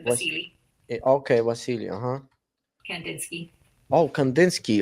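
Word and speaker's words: Wassily: It's with a W, but Vasily.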